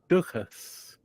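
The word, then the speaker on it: dúchas: rhymes with this other word in Irish duas which means tradition but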